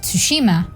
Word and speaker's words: Tsushima: When I learned of the existence of Ghost of Tsushima, which, by the way, that's its actual pronunciation. That's how you pronounce Tsushima, not Tsushima or Tsushima as if it were Shushima. No, it's not sushi.